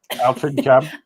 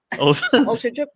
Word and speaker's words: Altrincham: I know how to pronounce it now. Altrincham. Altrincham.